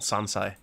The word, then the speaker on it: sansai: I made sansei pickles this time. Before Did I say it right? yeah. Yay. Before I had moved here to Hinamizawa, I scoffed at the mountain vegetables called sansai.